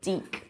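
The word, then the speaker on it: Dyck: problem involves something called got to get the German pronunciation right de words named after the mathematician de pronounced with a long ey sound in the middle so de words are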